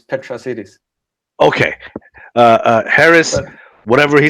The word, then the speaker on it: Petrasitis: It's Greek. It doesn't have an English pronunciation, so it's Petrasitis.